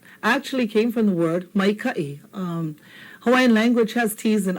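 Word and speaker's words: maikaʻi: Now without the okina, you see what happens? It comes out to mai kai. Doesn't mean anything. mai kai, okay? But here, when we put in the okina, it separates these two vowel sounds so that we have a clear kai, mai kai.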